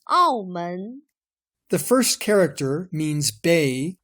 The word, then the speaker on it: 澳门: Its Chinese name is written like this and pronounced 澳门.